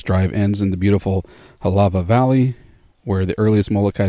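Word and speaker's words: Hālawa: That's spelled Halawa. W's sound like V's in Hawaiian.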